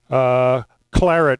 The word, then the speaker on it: claret: It's actually claret, if you pronounce that the English way.